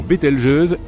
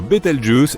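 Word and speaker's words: Bételgeuse: Quant à la manière de prononcer correctement Betel jeuse, tu peux le faire comme bon te semble. Tu peux même dire Betel Juice si tu en as envie.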